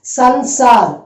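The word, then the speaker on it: संसार: So it is, listen to me and just pronounce it Sanyam. The next one is Sansar. S-A-N-S-A-R.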